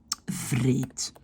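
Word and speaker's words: wreed: Le W se prononce V.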